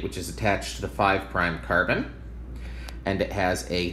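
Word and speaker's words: 5′: they're pronounced 1 prime that little apostrophe after that is pronounced prime 1 prime 2 prime three prime four prime five prime and we say that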